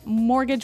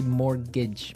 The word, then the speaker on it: mortgage: I mean, there's this strange mortgage with a T. Yeah, it has a T in it, but you don't pronounce it. You say mortgage.